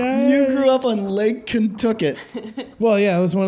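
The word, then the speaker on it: Contoocook: Lake Kentucket, Lake Kentucket. Yeah. which is kind of spelled like Contacook, but like it's like these.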